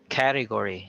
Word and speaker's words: category: as well we have category so the stress is on the first syllable that category no so sometimes as Filipinos we we stress on the second syllable which is wrong another mispronounced word is